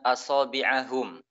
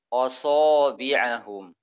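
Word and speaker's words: أَصَابِعَهُمْ: Contohnya adalah pada kalimat asabi'ahum. Misalkan dibaca asabi'ahum. Asabi'ahum. Hamzahnya ditebalkan.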